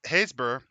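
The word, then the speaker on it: Happisburgh: the it's haysber which is uh pronounced that way and then it's spelled h-a-p-p-i-b-u-r-g-h hey are there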